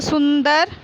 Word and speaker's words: सुंदर: सुंदर, सुंदर, क्योंकि ऊपर बिंदी लगी हुई है, इसमें तो नए का उच्चारण आएगा। ये बिंदी में नए का उच्चारण आएगा। तो सुंदर थी।